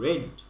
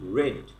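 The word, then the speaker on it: read: Have you রেড this book? Book, not বুক, বুক। লাস্টে খ হবে। হ্যাভ ইউ রেড, রিড না বলে রেড, রেড। রেড মানে যে লাল, লাল, সেই উচ্চারণটা এখানে হবে।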